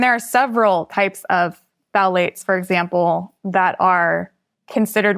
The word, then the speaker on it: phthalates: And can you spell it and say it again? It's phthalates.